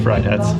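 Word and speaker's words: Friedhats: It is pronounced Fried Hats.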